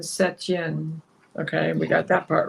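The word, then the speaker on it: Saint-Étienne: I'm looking at Wikipedia St Anan French pronunciation seten okay we got that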